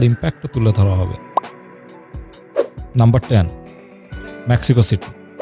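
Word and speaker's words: México: নাম্বারট মেক্সিকো city. যদিও মেক্সিকানরা এই নামটির উচ্চারণ করে থাকে মেহিকো বলে।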